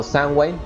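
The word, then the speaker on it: Samhain: esta tradición antigua del sunheim o sandway como se pronuncia originalmente Pero bueno Mr James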